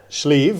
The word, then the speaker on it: Sliabh: Schleave as in the sleeve of your shirt.